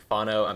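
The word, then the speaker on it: whānau: It's pronounced something like Fano. My Maori pronunciation isn't great, and it basically means like family and like people in your community.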